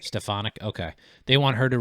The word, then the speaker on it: Stefanik: How do you say her last name? Is it least I say Elise Stefanik. Stafanik.